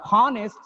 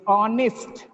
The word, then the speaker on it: honest: Not honest, it is honest. Honest. H is silent and nest, honest.